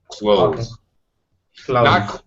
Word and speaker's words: clothes: at the end but it's much easier to pronounce it exactly the same way as you say I will close the door close just a simple z sound at the end close close not not closes or close